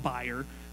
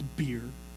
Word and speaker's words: bier: I had to look it up because I wanted to call it buyer, but it's beer.